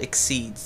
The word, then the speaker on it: Xyz: They're called Exceeds. They're XYZ is how it's spelled. It's supposed to be pronounced like Exceeds or some Exceed. Exceed is the easiest.